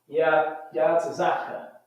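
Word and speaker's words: יצחק: How you say Isaac in the Hebrew? Yatzaka. Yatzaka.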